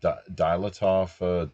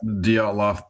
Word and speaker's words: Dyatlov: So the second only to the you pronounce that Dilatov mountain incident out of Russia, essentially. Yeah. Dyatlov Pass incident is equally disturbing, and the wounds suffered from those people.